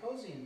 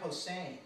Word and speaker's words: Posehn: We used to think it was Brian Posehn, but it's not. It's Brian Posehn.